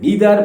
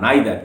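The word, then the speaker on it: neither: এটার কারণ ছিল আই হ্যাড নিদার বা নাইদার, দুটো উচ্চারণই ঠিক, দুটি করতে পারো।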